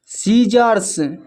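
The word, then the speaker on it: scissors: जब एस के बाद सी आए तो सी साइलेंट होता है।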